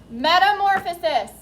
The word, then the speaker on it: Metamorphosis: 5 syllables. Metamorphosis. Put them all together, smooth them out, and it is metamorphosis.